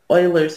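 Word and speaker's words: Euler: and e is called Oilers number it's spelled this way it's pronounced Oiler Oiler is a person's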